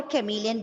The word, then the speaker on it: chameleon: The CH is not spelled as ch, but it's spelled as k. Ka. Okay, fine. No, I'm talking about there is a speciality for chameleon.